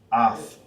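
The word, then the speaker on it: את: That'll be in Hebrew, and we pronounce Ath. Ath. Alright? With is Ath in Hebrew.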